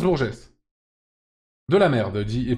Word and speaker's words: Bourges: de bêtises bon geste ça se prononce Bourges de la merde dit